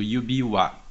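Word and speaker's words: 指輪: Se você colocar o kanji de yubi do lado de rin, que é argola, a pronúncia vai mudar e você vai ler aquilo yubi-wa.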